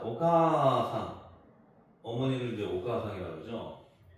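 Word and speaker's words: おかあさん: 분하는게 아니 발음하는게 아니고 그냥 가를 길게 발음한다고 생각하시면 돼 그래서 오가사 오가사 까를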